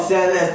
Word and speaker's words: Mercedes: No, it's in Spanish. It's First of all, Mercedes. You know, Spanish stays consistent.